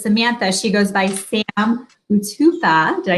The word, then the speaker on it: Utupo: Kimberly Olson here, coming in live for a special Facebook Live interview with, even though it says Samantha, she goes by Sam Utupo.